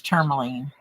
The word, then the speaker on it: tourmaline: I watched one channel and they referred to it as tourmaline. I'm like, there's no E in the beginning of it. Yeah.